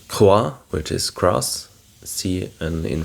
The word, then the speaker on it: croix: Like croix, which is cross, and in French it is CROIX, and a C is pronounced like a K when it's before consonants, so it's croix instead of sroi.